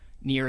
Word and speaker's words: Nier: I'm saying cuz obviously they might think it's spelled one way it's actually spelled in I er near as a name not just some word